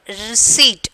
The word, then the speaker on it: receipt: Receipt. Okay, receipt. Receipt, you know that. Can you get that receipt like that? Okay, paper. So here that P is the silent letters.